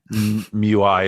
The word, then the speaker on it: Mewis: players like a Sam Mewiz and Lynn Williams, I think. Right? Yeah, Is that Mewiz? Mew-Eyes, I think. Yeah, you're around there. Mui, it's S is silent.